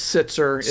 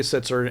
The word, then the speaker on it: Sitzer: pronounce it szer Bernett it's sitzer it was originally sitzer and you know when